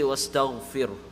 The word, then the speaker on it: واستغفره: فسبح بحمد ربك واستغفره So fir, that ra, is going to be pronounced empty mouth. Right? There's sukoon and the letter before has a kasra. So it's going to be fir. This is another example. Another example is fir'aun. You don't say fir'aun. You don't say wastaghfir. Fir. It's fir. Because it's empty mouth.